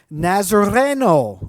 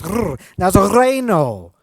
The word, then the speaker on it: Nazareno: Nazareno. Oh, I did it there. How about that? Try that. Roll your R's at home. Try rolling your R's. Nazareno.